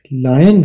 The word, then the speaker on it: lion: तो इसकी आवाज तो है लायन की, लेकिन स्पेलिंग आपने यही याद रखने हैं, LION। आपको याद होगा ओ की आवाज आ की आवाज बनती है। इसे ओ नहीं पढ़ना, आन पढ़ना है।